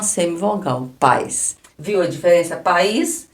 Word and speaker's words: país: temos um iato aqui país nós temos pa is nós precisamos separar por causa do acento aqui ó nós falamos bem separado ó pa is então este aqui O